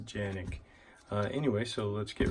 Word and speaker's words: Canik: the canik tp9 SF and turkey they pronounced a Janek anyway so let's get